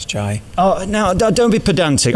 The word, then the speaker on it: Jai: I mean, J-A-I, how do you say it? Jai. Jai. It's an I. You say Jai and I say Jay.